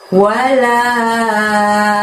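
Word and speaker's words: وَلَا: Kita belajar ayat yang keempat ini, kita lihat ada lafaz wala. La-nya panjangnya 5 juga ya.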